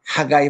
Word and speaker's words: 하가이: 그래서 이제 거기는 우리 아, 우리 그 성경의 그 이름 소선지자 이름으로 나옵니다만은 그 이 존 하가이 목사님, 이 하가이가 학계 이게 영어 발음 읽으면 하가이예요.